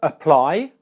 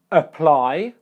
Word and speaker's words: apply: as a U, and the next one I'm going to give you is apply, which is spelled as an A, we're using the schwa sound for all of them, okay?